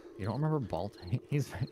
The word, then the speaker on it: Balto: Hey, do you guys remember the kids movie with ball toes? Yeah, ball toes. I'm gonna do it. Wait, how is it supposed to be pronounced?